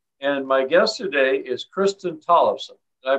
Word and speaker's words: Kristin Tollefson: and bremerton washington and my guest today is kristen tollefson i pronounce that right kristen yes that's right thanks